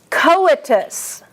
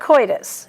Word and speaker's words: coitus: Coitus. That is not coitus, it's co. CO is the accent.